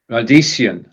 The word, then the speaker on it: Radieschen: Radieschen. So this is one of those words where, when we're talking about something little, we often add the ending chen.